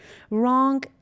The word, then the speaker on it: wrong: Wrong, W is silent.